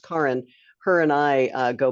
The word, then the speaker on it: Kaaren: in the attendees list spelled k-a-a-r-e-n Karen it's pronounced Karen her and I uh